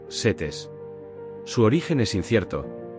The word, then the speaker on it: Set: El nombre de Set, en egipcio antiguo, se pronuncia algo como sutec o setes.